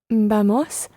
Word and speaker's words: vamos: Vamos a viajar a México. Muy bien. Vamos, the stress on the first syllable, vamos, a, and then the word for to travel is viajar.